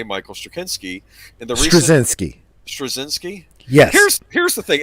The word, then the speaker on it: Straczynski: I don't remember, but somebody that I knew who was Slavic pronounced it for me. So that's Straczynski. Okay. Straczynski.